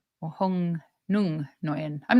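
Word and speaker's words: Nguyen: I think you pronounce that Noyen because I had a girl at my work.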